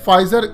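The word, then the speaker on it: Pfizer: वह फेस जरा का लेकिन पी चुके साइलेंट रहता है इसलिए फाइजर इस कंपनी का असल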